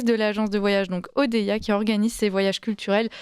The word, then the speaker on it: Odeia: Je rappelle que Odeya s'écrit O-D-E-I-A.